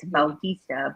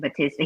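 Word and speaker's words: Bautista: it's still it's spelled b-a-u-t-i-s-d-a and then he pronounced it as baltista but but americans say it batista he no they did i think when he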